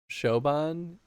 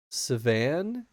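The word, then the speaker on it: Siobhan: if we're not struggling pronounce showan isn't it no it's it's um so it's gelic I learned and it's should be savan I think I think that's what it was savan kind of like Savannah scroll up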